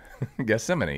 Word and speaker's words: Gethsemane: Gethsemane, yeah.